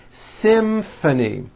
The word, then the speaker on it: symphony: as an f telephone it's the same thing in this next word symphony this is a tricky one because you've got the m sound followed by an f sound symphony and the last word